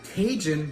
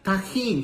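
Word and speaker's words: Tajín: you pass me a tahin real quick you mean the Cajun Cajun no Tajin tahin say it once tahin there you go look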